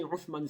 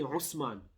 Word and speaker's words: Uthman: For example, when they pronounce Uthman, they don't say Uthman, they say Usman.